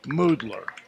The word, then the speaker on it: Muthler: And he was giving me the history of it's spelled Muthler, but it's pronounced Moodler.